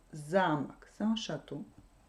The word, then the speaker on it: замок: Donc, замок. Si l'accent tombe sur la première syllabe, замок, c'est un château. Si l'accent tombe sur la deuxième syllabe, замок, c'est une serrure.